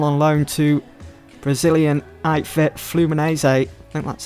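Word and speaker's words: Fluminense: list has gone on loan to Brazilian outfit flumino say that's how you pronounce them so it looks like we're joined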